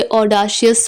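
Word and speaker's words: audacious: Next word है, अब है ऑडेशियस। इसे ऑडाशियस प्रोनाउंस नहीं करेंगे, ऑडेशियस प्रोनाउंस करेंगे।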